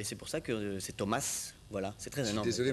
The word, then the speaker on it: Thomass: pour ça que c'est Thomas voilà c'est très énoris désolé moi j'ai vu deux s je me suis méfié mais non ça se prononce ça ça c'est il